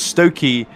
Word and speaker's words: Stocci: Stocci equals Stokey, and Canistracci equals Canistracci.